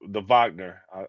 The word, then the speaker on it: Wagner: And then, like you said, the Wagner. I said Wagner because it's spelled that way, but the Wagner brothers, Yeah.